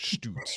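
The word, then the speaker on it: Szturc: this guy who's in Syracuse this year Gabriel stoots his last name does not look like it would be pronounced stuts right it's got all these like consonants in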